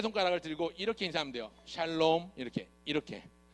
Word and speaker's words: 샬롬: 따라합시다 샬롬이 오셨네 어 발음 잘해야 돼요 살롬이 오셨네 하지 말고 샬롬이 오셨네 해야 됩니다 한번 더 샬롬이 오셨네